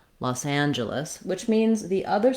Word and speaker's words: Los Angeles: like job or just and then our letters e both e's say the schwa sound they sound like ah in this word los angeles very on very reduced